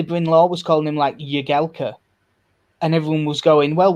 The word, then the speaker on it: Jagielka: It's Phil Jagielka. His nickname's fucking Jags. Not Yags.